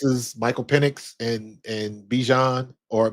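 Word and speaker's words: Bijan: And I think this is Michael Pennix and and Bjan or Bjon. He said it. His name is pronounced Bjan.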